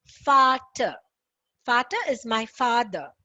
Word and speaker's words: Vater: So V, whenever you see any words with V, then it becomes Vater. Father is Vater. We saw that in the previous class, right?